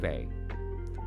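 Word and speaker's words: פ: in this case the pay is first, and so it wouldn't. It's also another way to pronounce that is Fe. It's also an F sound, okay? But in this case it's a P.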